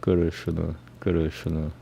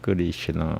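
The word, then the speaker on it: Krishna: Guru Shuna, and not Guru Shina or Guru Shina, whatever. So that's not Sanskrit. The correct Sanskrit pronunciation is Guru Shuna, Guru Shuna, Guru Shuna, and it means black or darkness.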